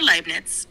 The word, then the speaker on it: Leibniz: As for Leibniz, you can pronounce it Leibniz, with a slight emphasis on the B.